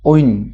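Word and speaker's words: wind: আই এনডি যে বতা বুঝাবলে ব্যবহার হব ইয়া উইন হিসেবে উচ্চারণ করব লাগব কিন্তু পাখ অর্থ ব্যবহার করলে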